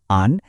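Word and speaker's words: 安: প্রথমটা আন, এটা হলো ফার্স্ট টোন, মানে গলার স্বরটা একদম সমান, একটা হাই পিচে থাকবে আ ন।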